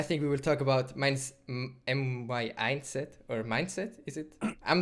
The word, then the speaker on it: mYindset: By the way, that's how you say it. It's just mYindset, like mYindset. So it's very easy, just hard to write.